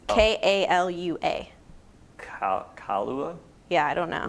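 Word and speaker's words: Kālua: No, it's Kalua.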